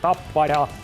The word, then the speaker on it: Tappara: Actually, we pronounce it with a lot of R in Finland, Tappara. It's going to be really interesting to see EV Zug against Tampere and Tappara, the only Finnish team